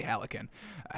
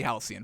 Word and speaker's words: halcyon: peaceful absolutely that absolutely hallican alex and the hell do you pronounce this halcyon definitely halcyon folks all right halcyon